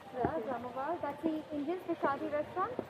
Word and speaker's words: Jamavar: How do you pronounce it? Jamavar. Jamavar.